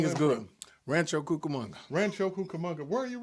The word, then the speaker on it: Rancho Cucamonga: Rancho It's Cucamonga, Rancho Cucamonga, most definitely. and I can spell it too.